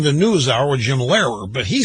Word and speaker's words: Lehrer: on PBS with Jim O'Lara. Jim O'Lara interviewed, Lehrer. Somebody said, who's Jim O'Lara? That's how he pronounced it. His name is Jim Lehrer.